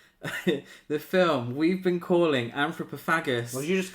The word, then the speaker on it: Anthropophagus: The film we've been calling Anthropophagus. What did you just call me? And then recently found out it's pronounced anthropophagus. Yes, but it'll always be anthropagus.